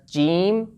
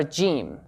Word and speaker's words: ج: Alright, the counterpart of this letter in English is the letter J, not the letter G, since the letter G sometimes produces the sound G, such as in the word give, got, gain.